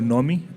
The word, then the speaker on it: Nori: building uh uh it's called Nori uh rhymes with normies um so it's something